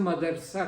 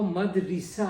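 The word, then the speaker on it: مدرسہ: चल रहा है तो मौलवी साहब भी उसे मदरसा कहते हैं मदरसा कोई लफ्ज नहीं है वो मदरसा है अच्छा मदरसा है अब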